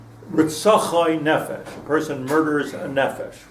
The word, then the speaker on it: nefesh: see us on a fish right itself ie nefesh person murders a nephesh right nefesh now this